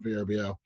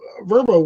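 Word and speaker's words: Vrbo: It's they they they pronounce it Verbbo, not VBO.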